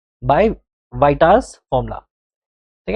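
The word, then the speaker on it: Vieta: ए, ठीक है, बाय वाइटास formula, ठीक है, बाय वाइटास। अब इसकी प्रोनाउंसिएशन कुछ अलग भी हो सकती है, बट स्टिल मैं इसको वाइटास फॉर्मुला बोलता हूँ, ठीक है, वाइटा, इट्स अ वाइटास फॉर्मुला।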